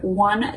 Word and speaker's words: one: notice that the word one does start with an o but it is pronounced the same way that the word w-o-n um the past simple